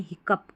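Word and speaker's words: hiccough: क और प है इसका उच्चारण यानी हिकप कप।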